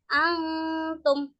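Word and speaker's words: أنتم: Nah, kalau cara membaca hukum bacaan ikwan hakiki yaitu dengan samar-samar. Samar-samar antara suara nun dan ta itu dibacanya berdengung atau samar-samar. Contohnya antum. Jadi dengung tapi suaranya itu seperti antara suara nun dan ta di antara keduanya.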